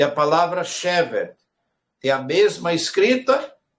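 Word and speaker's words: שבת: E temos a palavra Shevet, que é a mesma escrita, pronúncia diferente. Quando eu digo assim, Inematov manaim Shevet achi, ou Shevet achi gam yachad, Shevet é a mesma, ela usufrui das mesmas consoantes do que a palavra Shabbat, só que tem uma pronúncia diferente.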